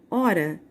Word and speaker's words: hora: ela tem três problemas porque o h não tem som então eu só vou pronunciar a palavra o r a hora por isso três fonemas